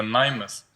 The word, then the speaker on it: NAIMES: нього що він значить мій псевдонім правильно читається наймес дуже багато плутають тому що по-англійськи якщо читати то воно може звучати як names а Але воно задумано як поанглійськи читається але українськими буквами тобто наймес так як так як пишеться і цей псевдонім я